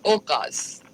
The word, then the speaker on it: Ucaaz: औकाफ, औकास या औकाश? नहीं, औकास. स्पेलिंग करें. ये औकास है. औकास ये आइन से शुरू होता है. स्पेल क्या है इसका? Spell UKAZ. UCAAZ.